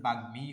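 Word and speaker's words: বাগ্মী: যেমন দেখো এখানে বাগমি শব্দের উচ্চারণ বাগমি হবে। মানে ম ফলার উচ্চারণ ম এর মতই হবে।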